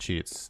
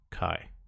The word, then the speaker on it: Chi: Oh, Chi is not pronounced Chi. It's pronounced Kai.